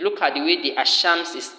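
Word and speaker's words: الشمس: There are two ways. There are the one you pronounce as if you are pronouncing al-qamar, as if you are saying the moon, and there is the one you are to pronounce as if you are saying ash-shams, the sun.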